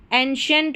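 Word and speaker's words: ancient: तो यहां पर श पढ़ेंगे। देखिए स्पेलिंग्स में एंशिएंट पढ़ रहे हैं।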